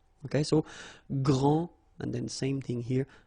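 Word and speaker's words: grande: you don't the day here and you don't pronounce the final s okay so gr and then same thing here gr and regarding the feminine form you will pronounce it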